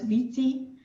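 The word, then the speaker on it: 危机: So let's start with this Chinese word, and this is actually crisis, pronounced as Viti.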